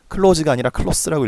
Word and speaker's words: close: close가 아니라 close라고 읽어야 돼요. close라고 읽으면 문을 닫았다라는 뜻이 돼버려요.